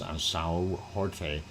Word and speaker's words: São Jorge: If you want to pronounce it in Portuguese, São Jorge is the name of that St.